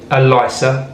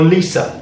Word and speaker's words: LISA: through an account called elisa or lisa depends how you want to pronounce it this is a lifetime